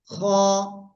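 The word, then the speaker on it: خ: শিখেছি হলো এ অক্ষরটা এই অক্ষরের নাম কি খ গলার শেষ ভাগ থেকে এই অক্ষরটা উচ্চারণ হয় তারপরে শিখেছি আমরা এই অক্ষরটা আর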